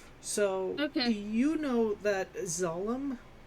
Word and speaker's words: Zallem: Zalem. Zalem? Zallem.